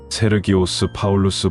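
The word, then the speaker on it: Σέργιος Παῦλος: 7절 말씀, 그 거짓 선지자가 구브로의 로마 총독 서기오 바울 옛날 어르신들이 발음이 어려우니까 서기오 바울 이렇게 음역을 했는데 원어를 보면 세르기오스 파울루스입니다. 세르기오스 파울루스 발음이 어려우니까 서기오 바울을 아주 쉽게 음력을 한 겁니다.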